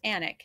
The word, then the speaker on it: Alnwick: just south of anak so here's anik and it looks like alnwick a-l-n-w-i-c-k and for those of